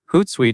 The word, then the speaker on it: Hootsuite: Hootsuite is most commonly pronounced a ho a t suite. When you say it, you will hear two parts. The first part is hoot, and the second part is suite.